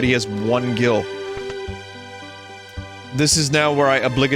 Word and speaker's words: Gil: tell you that i said jill when i was younger because my friend who got me into final fantasy vii pronounced it as jill gil jill think of it this